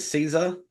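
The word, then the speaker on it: Cesare: today he's come back um how do you pronounce his name is it Caesar c c Cesar c yeah okay Cesar I love that I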